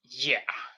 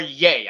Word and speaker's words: Ye: can't even pronounce so yeah so basically so kanye's new name officially is now ye or yay i think it's khan as yay it was petition for